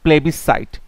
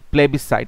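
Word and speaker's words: plebiscite: তখন তাকে বলা হয় প্লেবিসাইট তাকে বলা হয় প্লেবিসাইট প্লেবিসাইট বানানটা important পিএলইবি আই এস সি আইটি প্লেবিসাইড এখানে এস এর উচ্চারণটা সাইলেন্ট আছে সো প্লেবিসাইড আ সলেম প্রমিস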